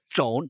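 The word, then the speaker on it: trộn: You say chon or chom. Chom Means to steal. Chon means to mix. sounds the same to me. Phonetically, chom and chom, to chom nhau and to steal. Oh, that's why. Chon is T-R-O-N. Chom is T-R-O-M.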